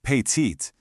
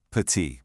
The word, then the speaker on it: petit: Let's take the word for small pet. You see, it ends with a T, but we don't say patit. Nope. That T is totally silent. The sound stops right at the vowel pet.